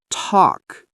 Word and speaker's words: talk: L is silent, walk, talk, calm.